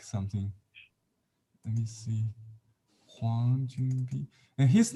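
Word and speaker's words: 黃君璧: It's the same in our spelling, but sometimes the first name Jun is spelled Jun in Pinyin Bi or Chunpi, pronounced the same.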